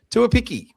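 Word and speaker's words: Tuaupiki: Tuapiki is how you pronounce the fullback's name.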